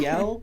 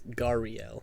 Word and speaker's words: Gariel: Gadriel, right? yeah, Gadriel. Okay, I'll just note that down so I can say it correctly. Gadriel. Okay. It's Gariel. There's no D.